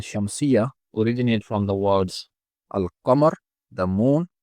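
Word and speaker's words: القمر: These names, qamariya and shamsiya, originate from the words al-qamar, the moon, as Lam is pronounced in the word al-Qamar and ash-Shams, the sun.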